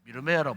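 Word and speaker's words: ירמיהו: 예레미야 이름인데 히브리 말로는 미르메야라는 뜻이에요. 미르메야라고 발음을 합니다. 우리 말로는 예레미야 하지만 히브리 원문의 이름은 미르메야.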